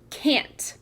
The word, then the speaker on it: can't: We can hear that it's a closed syllable, making that short A sound in the middle.